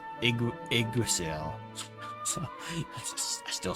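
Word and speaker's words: Yggdrasil: I bet I'm like before like voice acting, I was called it Yasril. It's Igrasil.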